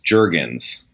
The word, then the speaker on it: Jurgens: First, is it pronounced Jurgens or Jurgens? Jurgens.